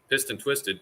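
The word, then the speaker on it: PIST'N Twisted: It's spelled PIST''N, Twisted Garage. But if you say pissed, like you're angry, and twisted, piston twisted, that's what it's supposed to be.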